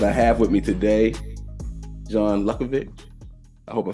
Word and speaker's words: John Luckovich: Um, but I have with me today John Luckovich.